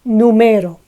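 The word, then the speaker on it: número: stays as it is numero however if we put the accent on the first one or the last one we need to mark it with the tilde numero is a noun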